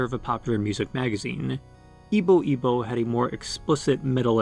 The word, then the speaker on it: YBO2: name YBO2, or squared, pronounced as Ibo Ibo, one of the typical groups of the Japanese underground that was experimenting with how inaccessible prog-rock could be.